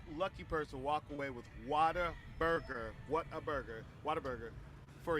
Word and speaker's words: Whataburger: In Texas, we pronounce it Whataburger. Whataburger. Did I say it right? No.